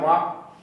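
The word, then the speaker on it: walk: अंग्रेजी में तो लिखते हैं वाल्क और पढ़ते हैं वॉक, लिखते हैं नॉलेज, के से शुरू होता है, पढ़ते हैं नॉलेज। उनसे पूछिए कि वो यल और के कहाँ गए, तो बोलते हैं साइलेंट हो गए।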